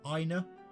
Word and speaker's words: Aina: good morning Joshua morning ina good morning aina I know I'm gonna go with aina because that's how the Japanese would pronounce it is shara here already